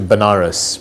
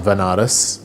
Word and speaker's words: Banaras: So I ended up going to Banaras, which is a place in India, sometimes pronounced as Vanaras, which is a place